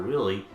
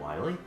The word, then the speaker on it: Wily: Dr. Willy, isn't it Wily? No. No, they actually misspelled it in Mega Man 7. They call him Dr. Willy. But they pronounce it Wily?